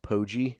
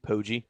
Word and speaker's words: Poggi: I don't like the soft G sound with Poggi. Poggi.